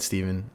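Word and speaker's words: Stephan: My name's Steven, spelled with a PH and an A like Stefan, but it's said Steven.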